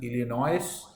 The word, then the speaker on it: Illinois: Illinois, this is, though it is written as Illinois, but it is pronounced as Illinois. The S is silent, right?